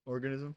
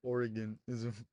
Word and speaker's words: organism: I feel like you kind of say like Oregonism, like from Oregon. Okay, bro. It's It's kind of an funny. organism. Did I Yeah. say it right? Yeah. What did I say the first time? Organism. That's what I said. No, you said Oregonism. It's like from Oregon, bro.